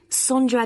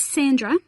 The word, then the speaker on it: Sondra: your name was again sondra is that sandra no it's spelt with an o so that's s-o-n-d-r-a and can you spell